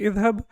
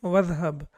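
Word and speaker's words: اذهب: We know this is hamzatul wasl, that's why we don't put any haraka on that, because when we connect it with waw or anything else, then it is not pronounced. So it will be idhab, but when we have waw before it, for example, it will be wadhab.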